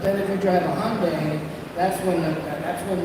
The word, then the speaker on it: Hyundai: if you drive a Hyundai that's when the that's when the samurai really strikes he's like every time I see a hondai h as the Koreans like to pronounce I like to say